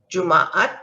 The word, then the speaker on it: Jumaat: ka sound so kamis juma there's two a's here so you pronounce both a's saktu saturday and ahad